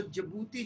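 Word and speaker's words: Djibouti: अगर आपसे पूछे भाई हॉर्न ऑफ अफ्रीका क्या है, तो जिबूती जो देश है ना, ये डी साइलेंट है, इसमें डी साइलेंट है।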